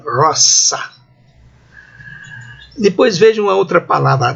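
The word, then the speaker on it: rosa: Então, dessas palavrinhas, a primeira aí, a pronúncia é assim, Magnus. Na segunda linha, 4 palavras. Vejam, a primeira, roça, o nome da flor, não é?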